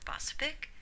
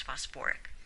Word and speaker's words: phosphoric: And phosphate doesn't form phosphic, it forms phosphoric.